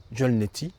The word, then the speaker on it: jala neti: C'est une pratique utilisée dans le yoga appelée jolnet qui s'écrit jala et neti.